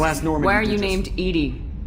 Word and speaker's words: EDI: Morelle does not do as nor where you named ed ed is the phonetic pronunciation of Ed I that is an acronym